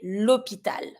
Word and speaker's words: hôpital: And then this one, even if it's finishing with the L, it's not an R, I know, you pronounce the L. So you're going to say l'hôpital.